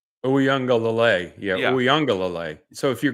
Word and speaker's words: Uiagalelei: pronouncing this ouang right ouanga yeah ouang so if you're going to used the emphasis ouanga so I'm putting the wrong emphasis on the wrong salabo that is correct and